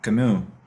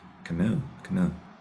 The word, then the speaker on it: Camus: but that will be like I guess Albert Camus, pronounce him right, Camus.